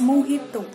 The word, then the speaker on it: mojito: ghost emoji IT over it's not magical it's mojito okay so I'll bring